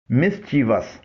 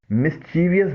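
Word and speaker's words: mischievous: مسچیوس اس کے معنی ہیں شرارت، فساد، مستی، بدنصیبی. اسے ہم عام طور پر مسچیویس بولتے ہیں جو غلط ہے.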